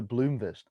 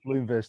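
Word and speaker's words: Blomqvist: uh and jesper jester bloomfist yeah if i'm pronouncing that that correctly there's a q in there so i think it's bloomberg i think the queue is silent some of the swedish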